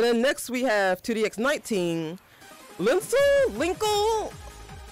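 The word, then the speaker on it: Lincle: It's been pronounced many different ways. This is where we start getting into the territory of, hey, Konami wants to make up words now. What, Linsel? Yeah, it's link plus circle.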